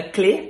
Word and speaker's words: clef: It's either with an F or no F, and there's no F because it's not clef, it's clé.